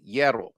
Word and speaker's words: hierro: Like the H is the HIE is like a Y. Hierro.